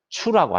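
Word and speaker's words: 醋: 그러면은 식초는 한자로는 식초 초자를 쓰고 중국 발음으로는 추라고 합니다. 추. 그래서 먹다라고 하는 츠와 이 추를 합쳐서 츠추 추 하면은 식초를 먹다라고 하는 본래의 뜻에서 질투하다라고 하는 의미로 변화가 된 것이에요.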